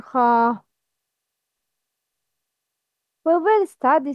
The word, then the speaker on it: خ: It's always a mufakham letter. Mufakham letter means has heavy sound. It's kha, kha, not kha.